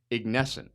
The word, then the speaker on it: Ignescent: And I been practicing saying their name right, Ignesscent. I hope I got that right. And Jennifer and Cole are about to let me know. Did I say it right? Yes, you did. Perfect.